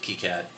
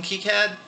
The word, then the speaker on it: KiCad: casual let's mess with keycad video I think it's key yeah maybe it's kind of cat seems like keycat's the correct pronunciation anyway moving right along